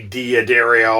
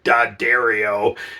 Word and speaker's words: D'Addario: but Dario Planet Waves great company it is pronounced d and we all say Diario I do too um but I've spoken with